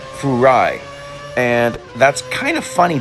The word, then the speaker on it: Furai: it's more properly pronounced Furai and that's kind of funny because it sounds like the word fry which ends up being